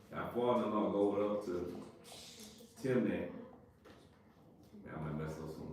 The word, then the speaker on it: Timnah: And it was told Tamar, saying, Behold, thy father-in-law goeth up to Timnah. I might mess up some word y'all better. Nah, you pronouncing it right, brother. Timnah?